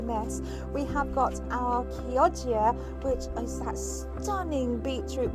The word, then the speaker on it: Chioggia: That is actually how you pronounce it. Just make sure that you're getting it right because it's based on a place in Italy.